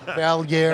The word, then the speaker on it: Valliere: Iain Valliere, if you don't know how to pronounce it, it's on his Valliere.